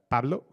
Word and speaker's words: Pablo: So with that, I'm gonna pass it to Pablo. That's how you pronounce it in Spanish, no Pablo, or yeah, and he's gonna speak about his work in CPython.